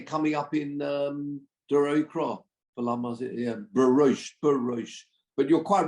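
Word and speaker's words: ברוש: Oh, so yeah, it would be pronounced Barosh.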